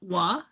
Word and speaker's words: は: even though it's spelled with the ha symbol, boku wa, that's like the subject of your sentence.